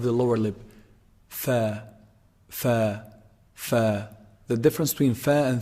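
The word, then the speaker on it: ف: Fa. Fa is actually pronounced from, combining the edge of the upper incisors when they hit down on the inside part of the lower lip.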